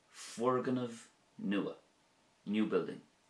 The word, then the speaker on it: Foirgneamh: So in Irish we would say Fuirgneamh nua, new building, Fuirgneamh nua.